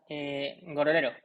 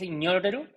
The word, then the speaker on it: Ngororero: Según yo es un gorrero o un gororero, pero también hay gente que dice que es ñororero, pero según yo, Ruanda no fue colonia francesa, sino que fue colonia inglesa,